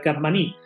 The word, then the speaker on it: Capmany: bolívar derrotó a valentín capmany y optaban y es un apellido catalán josé agustín blanco arroz decía que se debía pronunciar karma ni pero bueno camarioca man